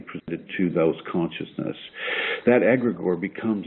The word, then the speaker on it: egregore: know and it's called it the word is egregore EG r EG o r e and egregore is a consciousness that is created